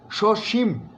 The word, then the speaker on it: সসীম: বলছি সসীম, ময়ের মধ্যে একটা ধাক্কা আছে এবং দুটোই তালবস্য।